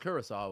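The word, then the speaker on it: Curaçao: Oh, it's pronounced Curacao.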